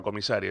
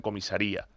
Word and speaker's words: comisaría: No es una comisaria, es una persona que debería acabar en comisaría. No en comisaría, un acento en la I.